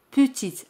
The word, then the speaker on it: petite: Pequeña es petite. Petite. Aquí T se pronuncia al añadir la letra E. Petite. Pero E al final no se pronuncia. Petite.